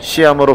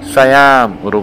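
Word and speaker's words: Siam: 참고로 태국 사람들은 시암으로 발음하지 않고 사얌으로 부르는데, 우리가 흔히 알고 있는 시암 쌍둥이도 바로 이 지명에서 유래되었다고 해.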